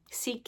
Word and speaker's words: Sikh: Sikh is how we normally pronounce this word in Canada.